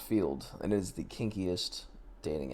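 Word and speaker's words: Feeld: account on there but Fields field not Fields spell it one more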